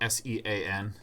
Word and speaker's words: Sean: just don't get how s EAN is pronounced Sean it's the Irish spelling because my grandmother and